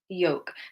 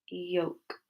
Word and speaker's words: yolk: Yolk. Well done. Lots of you are saying the correct answer. It's the L. So we don't say yolk or yolk. We say yolk. Yolk.